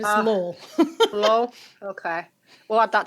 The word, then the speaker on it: Lowell: Do you say Lowell? Did I say Lowell? Sorry. Yeah, no, yeah, it's Lowell.